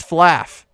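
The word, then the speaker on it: flaugh: a oh my god is that the word flaw f-l-a-w but it's spelled f-l-a-u-g-h like laugh it's flaff i can't oh god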